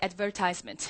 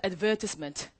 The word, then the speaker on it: advertisement: 절대로 고득점 안 나옵니다 자우리 미국식 발음으로 한번 따라해보도록 할까 따라 있니다 advertisement adver 자 그런데 영국식으로 따라서요 advertisement advertisement 그렇죠 이런 우리에게 익숙하지 않은